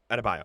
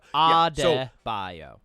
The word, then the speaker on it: Adebayo: Adebayo. Adebayo.